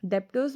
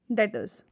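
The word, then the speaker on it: debtors: डेप्टर्स मत कहना बहुत कोई डेप्टर्स भी बोलते हैं। इसका एक्चुअल प्रोनाउंसिएशन क्या है? डेटर्स।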